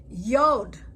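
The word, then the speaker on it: יוד: Yod is pronounced Y as in yellow.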